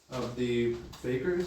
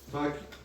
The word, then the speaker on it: fakirs: When there is no necessity or fittingness for a miracle, as happens in the prodigies of the fakers, is that how you pronounce it? fakirs.